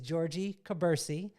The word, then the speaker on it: Jorgie Kubursi: going to murder your name either it is georgie cabersie i said it right yes entrepreneur businesswoman content